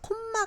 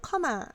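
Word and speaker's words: comma: 영어로는 커마 카마 입니다 그래서 콤마 가 아니고 사실 영어로는 카마 이렇게 발음을 해야 돼요 써커 마와 함께 뒤에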